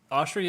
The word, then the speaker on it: Oshry: How do you say Dave's say it Oshry? Oshry, yeah.